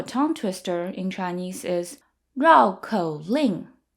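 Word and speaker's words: 绕口令: twisters are a fun way to practice your pronunciation and learn a few new words the word for tongue twister in Chinese is Rao KO Ling Rao KO Ling so Rao means to circle around Rao is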